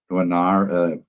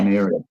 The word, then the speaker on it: Nwaneri: I mean, if you want out of the 6, you must mention Nuanar. How do you pronounce it? Oh, is it Nwaneri? Yeah. Nwaneri, yeah, from Arsenal.